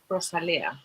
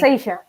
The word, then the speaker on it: rosacea: How about the Rosalea? Rosalia? I don't know how to say it. No, Yeah. When you get rose, like when you get pain. rosacea.